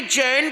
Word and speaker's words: जिन: जिन था, जैन नहीं। जैन शब्द तो अंग्रेजों ने लाया है, उन्हें जिन नहीं बोलना आता था, जैन बोलते थे। उनके शब्दों में प्रोनाउंसिएशन की कमी होती थी तो जैन बोलने लग गए।